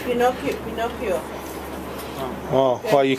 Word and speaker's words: Pinocchio: Pinoche. Pinocchio.